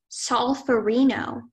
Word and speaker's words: solferino: solferino.